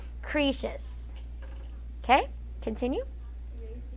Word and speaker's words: Croesus: Okay, I know it's spelled as Croesus, but the way you pronounce that is Croesus.